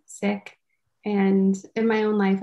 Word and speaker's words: Sikh: hear it pronounced as seek um the correct way to pronounce it is sick and in my own